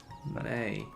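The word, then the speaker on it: Mei: I think it's May. It's like, it looks like Mai, but it's pronounced May?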